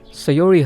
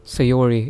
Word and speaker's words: Sayori: So is Sayori like Sayori and Yuri is Yuri? Like, is that okay if I do that? Because English is not my first language, right? And my accent isn't really like that. So typically I wouldn't say Sayori. It would be Sayori.